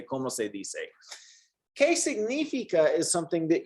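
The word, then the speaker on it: cómo se dice: say d say yeah the c is pronounced like an s here como se di se okay como se dise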